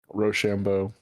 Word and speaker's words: Rochambeau: pronunciation. I have never seen I that was word not before. prepared. Really? Yeah, never. Rochambeau.